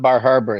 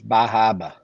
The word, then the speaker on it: Bar Harbor: And it's not Bar Harbor, it's Bahaba.